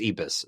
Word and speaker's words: Ibis: Okay, we looked up the pronunciation and we think it's Ibis.